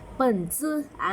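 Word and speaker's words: 本子: ท้าย ให้ เรา แบบ เหมือน แบบ มี ลม ลม ออก ตาม ไร ฟัน หน่อย เปิด ซื่อ เปิ้ล สู้ ได้ ยิน เสียง เรา ซื้อ ไหม เปิ้ล ซื่อ ถ้า ใคร ทำ ตาม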